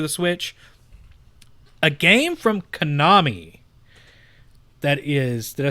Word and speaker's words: Konami: A game from Konami that is, did I say it right? Yes, you did. Konami!